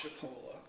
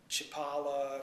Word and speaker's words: Chipola: so those people who don't know how to pronounce it it's chipola but of course people pronounce it all kinds of ways chipola chapala chipotle chipotle so uh it's it's really not